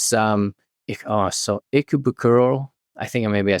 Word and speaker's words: Ikebukuro: It's so Ikebukuro.